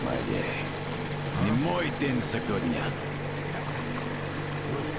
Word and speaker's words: Не мой день сегодня: His wording is correct as far as it's not my day in Russian. However, pronunciation, well, not so good. He should have said «Не мой день сегодня». I'm sure you can hear the difference.